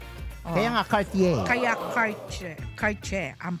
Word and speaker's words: Cartier: Bilang nasa Paris ako, di po pinopronounce ang letter R. Oh. Kaya nga, Cartier.